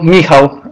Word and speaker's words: Michał: to get it like I'm sure it's pronounced very similar to Michael so it's is that what you go by uh yep Michael Miho uh in Polish and I'm sure you're